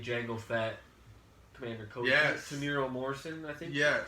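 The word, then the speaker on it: Temuera Morrison: Is that how you pronounce it? Tamiro Morrison?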